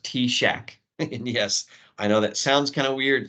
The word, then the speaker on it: TSAHC: T Shack uh well first of all it's pronounced T Shack and yes I know that sounds kind of